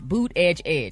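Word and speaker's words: Buttigieg: us Transportation secretary Pete boot Edge Edge Edge boot Edge Edge that's how you pronounce his last name an online fashion giant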